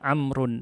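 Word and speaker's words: عمرو: dibaca rumah-rumah satunya dibaca amrun Hai Nah agar tidak tertukar di masa lalu tidak ada harokat maka yang murni dikasih Wow tambahan tapi baunya tidak diucapkan Hai amrun satunya rumah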